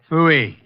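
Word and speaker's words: pfui: Phooey. It can be spelled in several ways. I spell it P-F-U-I. Phooey.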